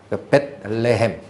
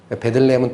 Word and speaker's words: 벳레헴: 벳레헴. 발음이 뭐하니까 베들레헴 이렇게 읽는데, 벳레헴, 레헴이 떡이에요. 베들레헴은 떡집이라는 뜻이고, 구약에 가보면 베델이라는 지역 있죠.